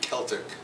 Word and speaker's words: Celtic: recent 20th century thing that's the pronunciation Celtic as in English become preferred this may be due the influence of the languages themselves so just Welsh and Gaelic where the letter C has always pronounced hard and therefore we have helped rather than felt in those languages so today the term